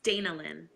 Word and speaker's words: Danalynn: it's Danalynn.